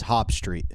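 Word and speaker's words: Jobst: even that's good okay it's uh it's Hispanic Dave it's hop Street so so what what's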